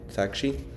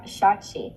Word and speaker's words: Saakshi: introduce you know saki to van and Van saki hello wait is that how you pronounce your name it's shaki sh shaki okay yeah okay I don't want to buer